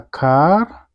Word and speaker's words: car: And then number 2, a car, this R is silent, okay, has a fa.